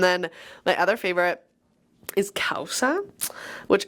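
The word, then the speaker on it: causa: And then my other favorite is Kaussa which it's spelled C A U S A but it's pronounced Kaussa.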